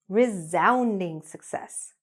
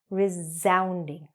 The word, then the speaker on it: resounding: A resounding success, okay? Now remember, when you're saying this word, even though it's written with an S, that S as a Z sound. "rezounding".